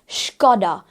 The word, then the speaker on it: Skoda: स्कोडा गलत हो जाता है, इट इज Skoda. Skoda is the correct pronunciation of this car brand.